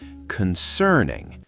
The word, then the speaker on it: concerning: Slow. Watch my mouth. Concerning. The stress is in the middle.